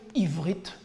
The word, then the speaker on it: Ivrit: Donc en hébreu moderne, on ne prononce pas trop les gutturales, on va dire Aïn, tout simplement, Ivrit.